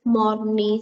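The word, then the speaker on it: Mornay: the vegetable sauce is basically money sauce it's pronounced as mourni sauce now what is money sauce money sauce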